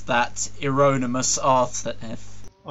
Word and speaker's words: Euronymous: Paying tribute to former members Per, Dead, Olin, and I don't know how to pronounce that, Euronymous Arthur. Oh, Euronymous.